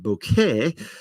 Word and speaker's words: bokeh: So, for those of you who don't know, Bokeh, half the people in the world pronounce it bokeh and half the people in the world pronounce it bouquet, is the concept of